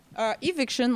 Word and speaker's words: Evicshen: with sound artist Shen, a.k.a., am I pronouncing this correctly, Evicshen? Evicshen.